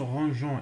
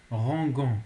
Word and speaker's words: rangeant: Et pour les verbes en GER, comme ranger, manger, etc., ils ont un E pour que rangeant se prononce rangeant et pas rangant.